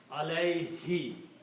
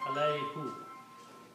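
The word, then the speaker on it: عليه: When you pronounce this in Tajid, you pronounce this Dhma as a kasra for the Taj reason. So you pronounce allay he not alai who okay it's easy to pronounce allay. So even though the word is who but we just pronounce he.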